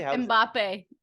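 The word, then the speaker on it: Mbappé: How do you pronounce it actually? Mbappe. Yeah. I was like, that to me is Hanson's song that came to life as a beautiful world-class athlete. Yes. Mbappe.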